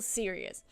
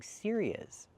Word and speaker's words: series: Yeah, she's saying serious. I think she means series. Yeah, she means series. Pronunciation. Use a long ear like ear and here. Series plus a long e like green beans.